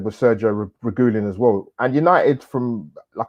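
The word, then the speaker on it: Sergio Reguilón: Sergio Reguilon, that's how you say it.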